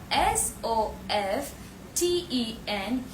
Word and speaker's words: soften: But here s o f t e n. Here this word is pronounced as soften.